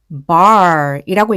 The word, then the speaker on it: bar: B는 B라고 소리가 나고 그리고 이 A가 뒤에 R이 옴으로써 애가 아니라 아라고 지금 단어에선 소리가 납니다. 그리고 R은 혀 굴리는 소리, 받침 소리죠. 그러면 bar이라고 읽게 돼요.